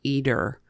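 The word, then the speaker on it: Eder: two sons Carlos and eer Herrera eer e d e r okay like Edgar but without the G I guess eer that's how it's pronounced I don't so I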